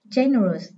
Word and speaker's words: generous: Generous. Đây là tính từ có 3 âm tiết. Âm thứ hai chứa ơ, nên trọng âm rơi âm số 1.